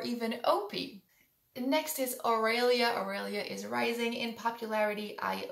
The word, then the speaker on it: Aurelia: Aurelia is rising in popularity. I love this name. It's at number 644. I love it even more with the Spanish pronunciation, Aurelia. But with the English pronunciation, Aurelia, you would have a